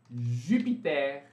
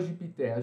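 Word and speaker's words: Jupiter: Júpiter. Também aqui, gente, vocês devem ficar um pouco confusos, né? Porque normalmente ER não é pronunciado em final de palavra. Mas aqui, excepcionalmente, a gente pronuncia também. Muitas exceções de pronúncia, né, gente?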